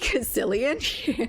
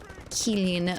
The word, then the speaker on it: Cillian: I think it's a hard C in his name, so to speak. Cillian.